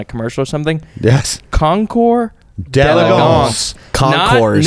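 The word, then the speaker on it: concours d'élégance: Concours. D'Elegance. Concours. Not Concours. Not d'elegance. Concours d'elegance. It's French.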